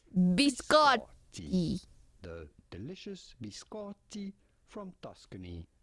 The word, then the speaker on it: biscotti: You do want to press on the syllable and on the double t. Biscotti. Biscotti.